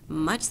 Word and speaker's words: mu: is the population mean so it's calculated in much the same way with its own notation so